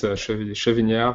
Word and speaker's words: Chevignard: So today we have with us Elie, Chevignard, and Mehdi. Now you have to sit. Yeah, Elie, Chevignard, and Mehdi, Medjaoui, yes. Pronunciation is perfect. Like for German, it's Chevignard.